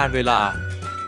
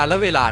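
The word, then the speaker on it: กาลเวลา: ที่ 7 คำ ว่า กาล เวลา อ่าน ว่า กาล เวลา ห้าม อ่าน ว่า กาล ละ เวลา นะ ครับ คำ ที่ 8 คำ ว่า กุลสตรี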